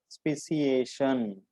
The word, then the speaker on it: speciation: Species Speciation. Pronounce it correctly.